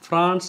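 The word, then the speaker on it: France: அதே மாதிரி ஃப்ரெஞ்சு மக்களுக்கு நீங்கள் ஜெம் லா ஃப்ரான்ஸ் என்று சொல்லி பாருங்க, மகிழ்வார்கள். எனவே ஜெம் லா ஃப்ரான்ஸ், இங்கிலீஷில் மாதிரி ஃப்ரான்ஸ் என்று சொல்லாதீங்க, ஃப்ரான்ஸ் வேணுமெண்டா தமிழ் உச்சரிப்பு போடுறோம் பாருங்க, ஃப்ரான்ஸ், ஜெம் லா ஃப்ரான்ஸ்.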